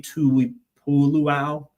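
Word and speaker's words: Tuipulotu: And uh adding adding a few pieces on defense, Tuli, Tui Puluo, that's how you say it.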